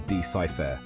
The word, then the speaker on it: decipher: secrets of the past we pronounce decipher as decipher with the stress on the first syllable here's how you can